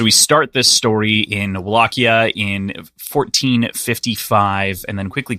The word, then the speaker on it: Wallachia: Places call it Wallachia, or like, it's like the W that's also semi-V-ish.